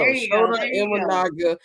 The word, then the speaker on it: Shota Imanaga: I want to for sure get your opinion on that, but I don't want to pronounce my man's name wrong. It's Shota Imanaga. There we go. Shota Imanaga, rookie pitcher for the Chicago Cubs.